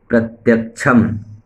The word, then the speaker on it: प्रत्यक्षम्: त्वम्, प्रत्यक्षम् ('प्रा' कहें, प्रत्यक्षम्, जो प्रत्यक्ष है), प्रत्यक्षम् ब्रह्मासि त्वम्, ज्ञानमयो विज्ञानमयोसि, सर्वम् जगदिदं ततो (तत्, आधा 'ता' जुड़ा हुआ है)।